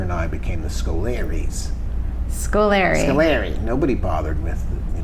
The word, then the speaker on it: Scolari: and here we are talking about how to pronounce his name Scoleri Scoleri have a lil Italian squad yeah so